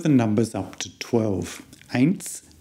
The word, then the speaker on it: Eins: Notice that the EI sound here is an A sound, much like the thing that you see with, and that the S sound at the end is a kind of a S sound.